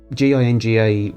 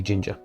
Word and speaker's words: GINGA: GINGA would be pronounced by a lot of Americans Ginga. Brits generally tended to know it was meant to be ginger.